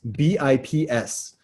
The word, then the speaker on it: bps: Next word, I love this one, BIPS, B-I-P-S. When you say it out loud, you say BIPS. When you spell it, it often is BPS.